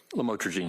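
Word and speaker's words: lamotrigine: about the u the lamel otherwise known as lamatraine. Did I pronounce that right? Lamotraine.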